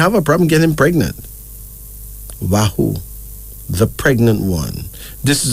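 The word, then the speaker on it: Wahu: child that wouldn't have a problem getting pregnant wahoo the pregnant one this is a kikuyu name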